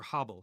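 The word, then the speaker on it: הֶבֶל: In ancient Israel in biblical days it would have been pronounced Abel. Abel. And that's a historical Hebrew uh or Habel I should say.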